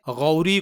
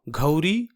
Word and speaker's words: غوری: اسے گھا پڑھتے ہیں، جیسے غوری کو گھوری اور غیاث الدین کو گھیاس الدین پڑھتے ہیں، جو کہ انتہائی غلط تلفظ ہے کیونکہ عربی میں